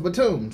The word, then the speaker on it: Batum: the raptors nicolas Batum I said Batum earlier but somebody send me an email saying is pronounced platoon so and then we